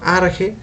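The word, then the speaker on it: ἀρχή: en acciones consideraba que la archer que era pronunciese arjé entonces que large el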